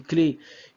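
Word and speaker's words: clef: on dit par exemple une clé une clé C l e f le F n'est pas prononcé donc c'est comme si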